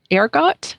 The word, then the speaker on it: ergot: that they found um ergot is that how you pronounce it oh yes which is a plant